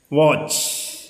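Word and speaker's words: watch: ഇനി അടുത്തത് ഡബ്ല്യു എ ടി സി എച്ച്, വാച്ച്. അപ്പോൾ സി എ ടി സി എച്ച് ഒ ക്യാച്ച്, എം എ ടി സി എച്ച് മാച്ച്. പക്ഷെ ഇവിടെ ടി ഉച്ചാരണം ഇല്ല, വാച്ച്, ക്യാച്ച്, മാച്ച്.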